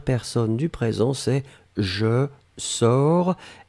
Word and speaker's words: sors: du présent c'est je sors s o r s on ne prononce pas le s p on doit quand